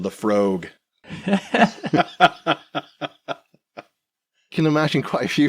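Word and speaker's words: Laphroaig: I wouldn't go with like Lefroy, for example. Lefroy is incredibly too far the other way. Never heard it pronounced that way.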